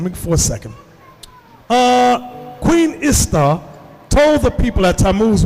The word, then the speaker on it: Ishtar: Semiramis became known as Ishtar, which is pronounced Easter, and her moon egg became known as Easter's egg.